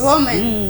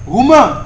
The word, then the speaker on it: Roumain: Roumain. Romain. Roumain. Romain. hein. Ouais, là. J'entendais ça, mais tu as oublié le U.